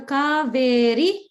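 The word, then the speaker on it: कावेरि: So kaveri ends in a hrasva. So we want to make sure we're not pronouncing the ri as like a dirgha.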